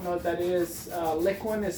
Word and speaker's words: Liquin: people who don't know what that is uh liquin is spelled L it's not liquid it's liquid Li